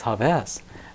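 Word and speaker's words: Hafez: Jaz it's h yeah people say hav and I used to always say that isn't how it's pronounced no I actually found out that I actually didn't believe it the story is is that there was a scholar and he say I do translation it's haves and I said oh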